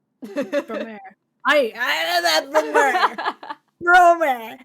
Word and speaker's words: Promare: Ah, Promare. Promare. I know that Promare. Promer. Excuse my Spanish pronunciation.